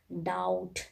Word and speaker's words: doubt: Letter B, when letter B just comes before T, that case B is the silent. Like doubt, DOUBT, doubt, date, DEBT, date, B is silent.